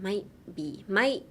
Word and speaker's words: might: Silence the T, but put a ちっちゃいつ in the might. Like, might be. Like, don't say might be. Be like, might be. So pretend you're being swallowed up into the air, like shoop って感じ, and you turn really small, like might be ですね.